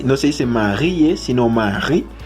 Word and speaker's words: Marie: Hay que darse cuenta también que aquí no se dice Marie, sino Marie. Es porque en francés la última letra casi no se pronuncia.